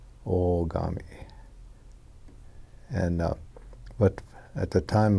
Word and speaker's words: Ogami: Because the Chinese character of our name is correctly pronounced Ogami.